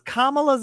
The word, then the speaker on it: Kamala: and I was like dude it's Kamala can't you just say it right and he's like I